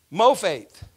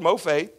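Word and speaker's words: מופת: there on your paper Mo faith laughs that sounds like a slang way of saying more faith doesn't it but that's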